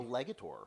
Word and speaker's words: Legator: So like I had a a legator le legator legator. How are you saying? I think it's legy rhymes with skeletor. Legator. That's how I always think about it in my head.